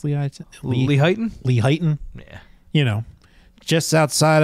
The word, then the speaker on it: Lehighton: Is that how you pronounce Lehighton? Lehighton? Lehighton?